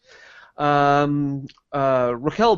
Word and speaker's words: Raquel: Raquel Bain was struck. Is that? Oh, I don't know how I pronounce that. It looks like Rachel, but it's Raquel.